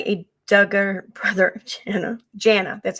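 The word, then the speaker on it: Jana: come back to that so yesterday reported that jaina what has her name jaina moved out which was told to me by a Duggar brother of Jenna Jenna that's how you pronounce it according oh my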